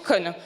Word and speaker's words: Kon: Non mais je savais très bien, hein, ça s'écrit K-O-N. Mais ça se prononce Con.